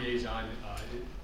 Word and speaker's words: Liaison: And yeah, Liaison is the right way to say it.